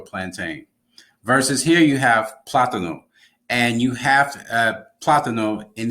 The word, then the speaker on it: plátano: So as a result, you have to put an accent here so that someone knows that when they pronounce it a certain way, you know that they're talking about the plantain. So plátano, and then you have platanero.